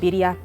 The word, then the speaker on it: birria: So like the popular one is the birria style taco, which is actually pronounced birria, and it's basically a steak marinated, marinated and cooked for about 6 hours.